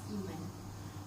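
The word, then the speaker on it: Imen: My name is spelled as I-M-E-N, pronounced as Iman.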